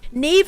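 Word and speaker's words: Niamh: gosh Neeve is crazy Neeve is spelled like so insanely you would never be like that is how you spell it yes n i a MH and it's pronounced Neeve dude gaic names are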